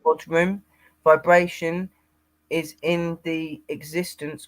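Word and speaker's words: bodhrán: drum, a bodhrum, Hmm. pronounced bodhrum.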